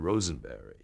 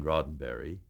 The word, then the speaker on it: Roddenberry: that I'm George Takei here to meet Mr. Rosenberry. And you're nervous enough as you are, but then when you're corrected that you had mispronounced the producer's name, that really throws you off.